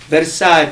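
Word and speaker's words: Versace: oh yes I love Italian I love uh verace the way it's supposed to be pronounced and DOL gabana and all those big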